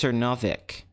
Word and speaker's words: Cernovic: It's pronounced Cernovic. Okay, it's Cernovic.